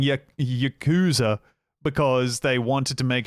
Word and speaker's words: Yakuza: Performance throughout the production pronounced the word Yakuza with vocal emphasis placed exclusively on the second syllable.